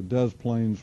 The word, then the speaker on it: Des Plaines: And if we were to zoom in on this, we would see this is a large park along the Des Plaines River. It's actually how it's pronounced.